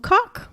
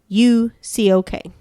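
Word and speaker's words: Üçok: a polarizing figure named, I'm going to butcher the name, and I'm sorry, Berea Cox. That's my best. If you want to try it, it's Bahriye. Last name Ucok.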